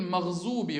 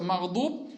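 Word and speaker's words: مغضوب: них распространена такая ошибка, они букву дат произносят как «з», да? Они, например, говорят «гайриль махзуби галейхим». Махзуб. Вместо магдуб «гайриль махзуби алейхим уля-заллин» говорят, да?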